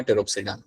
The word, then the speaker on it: टेरोप्सिडा: So this is माय टेरोप्सिडा, यहाँ पे पी मेरा यहाँ पे होगा साइलेंट, और ये जो मेरा यहाँ पे ग्रुप है इसमें आपको एग्जांपल मिल जाएगा समथिंग लाइक एडेंशियम।